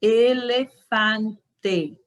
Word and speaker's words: elefante: vamos esquecer essa pronúncia na língua espanhola é e sempre é o ok continuando a letra